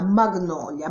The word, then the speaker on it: Magnolia: il grandissimo successo di Magnolia, oppure, se vogliamo fare i fighi, Magnolia, perché questa sarebbe la giusta pronuncia americana, Magnolia.